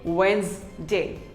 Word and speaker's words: Wednesday: us pronounce wrong wednesday most of us say it as wednesday but it is not wednesday it is actually wednesday say wednesday wednesday who doesn't love